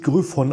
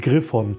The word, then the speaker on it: Gryphon: Design eingeblendet und ja der Name wird wirklich grüffon ausgesprochen und nicht Griffon grüffon selber sollte eigentlich